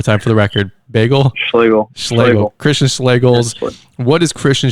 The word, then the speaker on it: Schloegel: Schlegel.